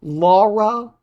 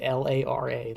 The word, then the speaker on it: Lara: such a massive thing Laura cro and I know I'm saying her name wrong I'm American you la laa it's an it's l a r a Lara um yeah Lara cross